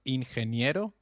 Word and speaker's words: ingeniero: notice the pronunciation of ingeniero G when followed by e or I takes up the sound of a stressed h so try saying it